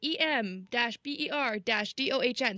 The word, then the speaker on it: Emberdon: Of the characters, the gods, and it'll say like Emberdon, god of fire and war, and then it's like EM-BER-DOHN. So you know exactly how to pronounce it Whoa, in your whoa, wait, wait, brain.